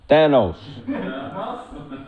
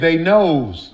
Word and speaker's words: Thanos: Thanos. Huh? You spelled it Theynos. You said they knows.